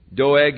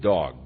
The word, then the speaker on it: Doeg: Doeg, and you could very well pronounce it dog, because he turned out to be a real dog.